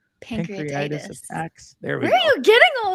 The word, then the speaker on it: pancreatitis: hyper-extended elbows torn shoulders two pancreatic pancreatis how do you say that pancreatitis where are you getting